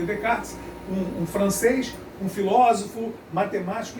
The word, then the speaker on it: Descartes: Snell, pessoal, foi um astrônomo e matemático holandês que em 1621, junto com René Descartes, se escreve Descartes, mas se lê Descartes, um francês, um filósofo,